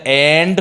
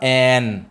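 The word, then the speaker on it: and: जैसे एंड को भी एंड नहीं बोलना है, एंड का प्रोनाउंसिएशन क्या होता है बेटा, एन।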